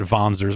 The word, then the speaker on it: Wanzer: And for that, it just said, hashtag Wanzers are back. And then they pronounced it Vonzers, which, I mean, yeah, that's okay, fine. I just like saying Wanzer.